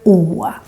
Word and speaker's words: Å: Today we're going to talk about how you pronounce the Swedish letter O. This little A with a circle or a dot on the top. You could also say that it is an A with an O on the top, because O is actually a mix between A and O.